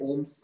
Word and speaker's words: ohm: है, ठीक है, ये ग्रीक सिंबल में इसे ओमेगा बोलते हैं लेकिन हम इसे ओम्स प्रोनाउंस करेंगे, ठीक है।